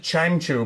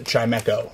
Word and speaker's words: Chimecho: win this battle my cargo arakota and for chimecho right i always i saw okay so i've always called it chimechu my whole life and then like just recently